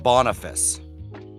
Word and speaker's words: Boniface: Google's telling me it's pronounced Boniface.